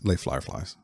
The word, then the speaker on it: Les Fireflies: I think it's less fireflies. less fireflies. Yeah. From New Brunswick. Les Firefly. I can't do that. It's Les Fireflies.